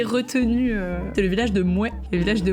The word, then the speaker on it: Mouais: Le premier village que j'ai retenu, c'est le village de Mouais. Le village de Mouais, donc ça s'écrit M-O-U-A-I-S, comme quelqu'un qui serait pas tout à fait d'accord avec le nom de ce village d'ailleurs.